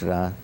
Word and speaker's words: Ra: Some say Re, but it's Ra.